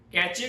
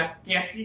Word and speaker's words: cache: को मिलती है जब कैचे के अंदर या कैसी के अंदर, कैचे वगैरह कुछ भी कह सकते हैं, कोई इसे कैश भी कहता है।